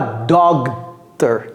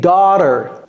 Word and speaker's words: daughter: Ce mot, avec un G et un H au milieu, ce n'est pas doctor. J'entends très souvent our doctor. Non. C'est daughter, daughter, daughter, daughter.